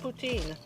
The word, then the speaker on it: poutine: Is that the right pronunciation? It is poutine, yeah.